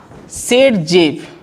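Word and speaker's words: Saytzeff: ये बताया था सेडजेफ, कौन, SAYTZEF, वैसे होता है ना, देख लेना स्पेलिंग, सेडजेफ, इसको सेडजेफ रूल बोलते हैं।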